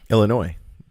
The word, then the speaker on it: Illinois: Which one's the right way to say that? Illinois. No S. No S. Not Illinois.